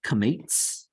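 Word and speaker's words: קמץ: And it's kametz. Okay, and it makes the same sound. It's ah, as in yacht.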